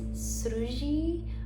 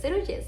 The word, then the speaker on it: Sruji: Palestinian side of us, which is actually pronounced Sruji. But when they went to DR, they didn't know how to pronounce it or spell it, so they like respelled it and came up with Seruje.